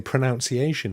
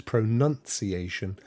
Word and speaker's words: pronunciation: pronounced the classic is people say pronunciation which is incorrect there is no o in it it is pronunciation um and the one